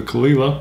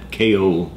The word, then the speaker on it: Caol Ila: we're going back to the Kila properly pronounced by the way that I would wear the funkiest hat in the house ESP POS right that is pronounced properly Kila we've heard it several ways but I'm pretty sure that's the right way and when we first did our first episode we were pronouncing it KO that has be wrong khila and we shot it